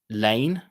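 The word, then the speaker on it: Laing: I get in trouble with this a lot because it's Lane, Douglas Lane. So in my dialect, that would be Lane.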